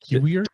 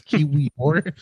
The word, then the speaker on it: Kiwior: They got a defender, Kiwier. Did you say his name? Kiwier? who He plays for West Ham. who I don't know how to pronounce it, bro. It's Kiwior. Kiwior? Like O-R at the end.